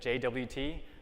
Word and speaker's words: JWT: just as a preface notice I said JWT not jot or jute I think any sane